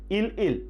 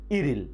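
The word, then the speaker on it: 일일: তাহলে এই উচ্চারণটা কি হবে ইল ইল না, উচ্চারণটি হবে ইরিল।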